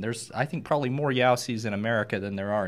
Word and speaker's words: Jaussi: I want to know how and why it's pronounced with a Y when it's Jaussi.